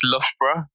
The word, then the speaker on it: Loughborough: It's Loughborough. Oh, Loughborough. It doesn't look like that at all.